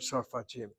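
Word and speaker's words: צרפתי: The way I'm pronouncing the word sorfati, sorfatia. Here the sound underneath the tzadi is the sound of an or.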